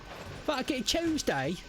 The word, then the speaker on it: Tuesday: like tuna it's like it's not chew as in chewing it's too as in tuna t u t that's